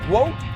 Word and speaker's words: GWOAT: Is it Is it woke? Is that Is that how it's said? Yeah, like goat with W, woke.